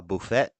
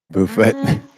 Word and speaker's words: buffet: all you can eat a bouet buet the tea is silent buffet buffet the tea